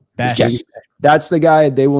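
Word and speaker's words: Bech: Jack Beck. Jack Besh. You got to pronounce the same way. Besh.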